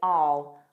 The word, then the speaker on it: I'll: Native speakers will commonly form a contraction and say all. Notice how unstressed that is.